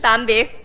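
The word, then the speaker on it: tạm biệt: Tambi. Tambi.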